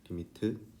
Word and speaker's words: lim: 리미트. 읽을 때 어떻게 읽어? 리미트라고 읽어요. 리미트라고 읽고 그러니까 LIM 이렇게 쓰고 x가 어디에 가까워져?